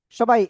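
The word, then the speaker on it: ث: সবাই এই অক্ষরটা বলেন তো কি অক্ষর, দেখি কেমন পারেন। সবাই বলতে হবে, সবাই। সা, সা, সা, সা, সা। নরম আওয়াজে এটা এক আলিফ টেনে উচ্চারণ করতে হবে।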